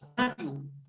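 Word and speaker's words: Tonatiuh: Por ejemplo, le pusieron tonatecas, le pusieron tonatiu, o tonatiu, como se pronuncia. Creo que el náhuatl es un idioma grave, tonatiu.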